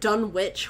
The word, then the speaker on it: Dunwich: why oh God see I've always pronounced it Dunwich horror because it's a w on to on to